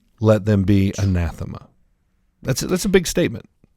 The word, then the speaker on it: anathema: Now the word accursed in Greek is pronounced is it anathema? Very good. Very good. Yes, it's anathema.